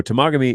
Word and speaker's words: Temagami: of the Temagami knife, you will find the people who are the Americans who don't know how to say the name. Okay, so there you go. Fun fact. Don't screw it up. So Temagami is up here, and